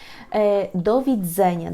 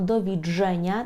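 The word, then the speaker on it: do widzenia: місці з вами прощається до відзеня добре народику Ми не вимовляємо до відження Так я знаю що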